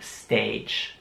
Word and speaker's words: stage: Und man sieht, dass das Wort mit einem G geschrieben wird, aber es wird J ausgesprochen. Also Stage. Und das A wird wie ein Ä ausgesprochen. Stage.